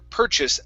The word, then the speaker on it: purchase: of patches paw okay curve your tongue up from that for that r per purchase up to the register